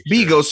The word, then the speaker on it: Bigos: It's Bigos. She says Bigus, so it's I know how to say his name.